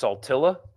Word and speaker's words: Saltillo: Saltillo is pronounced Saltilla. Is it? I've only heard Saltillo.